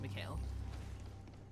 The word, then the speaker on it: Mikhail: Or Mikhail, sorry, they pronounce it Mikhail.